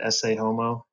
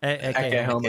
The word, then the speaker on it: Ecce Homo: So if you go through the old notes of the early psychoanalytic meetings, that you read, I always mispronounce it, Esse Homo. Is that how you say it? Ecce Homo.